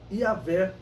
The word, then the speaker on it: Yahvé: falado no tetagrama sagrado, ou Yahvé é a pronúncia mais aceitável.